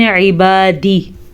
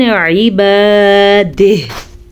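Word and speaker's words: عِبَادِهْ: جیم پہ وقف جائز ہے لیکن اکثر لوگ وقف کرتے ہوئے ہا کو چھوڑ دیتے ہیں یعنی کہ پڑھتے ہیں من عبادی. ہا بھی پڑھنی ضروری ہے. وقف کریں گے تو ہم پڑھیں گے من عبادہ.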